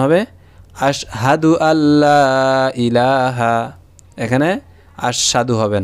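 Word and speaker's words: أَشْهَدُ: আমরা করি কি যে আশহাদু, আশহাদু বলি, অর্থাৎ সিনে উচ্চারণ দুইবার করি। এটা আমাদের ভুল উচ্চারণ। এখন উচ্চারণ হবে আশহাদু আল্লা ইলাহা।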